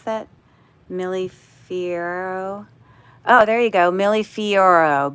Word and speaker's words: Millefiori: How do I pronounce that? Millefiori.